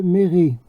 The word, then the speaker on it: Méret: Donc mon ancêtre, il est connu, hein, vous le retrouvez, courrier de Méret. Alors Méret, ça s'écrit, je crois, M-E accent aigu, R-E accent aigu, E, Méret, hein, c'est comme ça que vous le retrouvez.